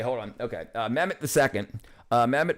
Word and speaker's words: Mehmet: Mehmet, pronounced Mehmet.